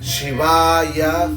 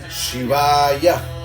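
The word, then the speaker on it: शिवाय: Por ejemplo, tenemos el nombre de Shiva, la vocal es A, 2A, se puede, después tenemos AA, tenemos Ya, Shivaya, ¿no? Tenemos Shiva, Shivaya, si uno dice, ¿no? Shiva, Shivaya, una doble A.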